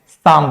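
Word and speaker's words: psalm: हम क्या बोलते हैं साम बोलते हैं यहां पे भी एल साइलेंट है और यहां पे भी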